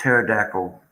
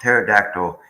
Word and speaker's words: pterodactyl: Why don't you hear a pterodactyl? Why, why, why can't you hear a pterodactyl using the bathroom? Because the P is silent.